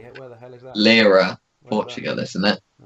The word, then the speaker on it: Leiria: No, that's not how you say it. Leiria. Where the hell is that? Lira, Where's Portugal, isn't it?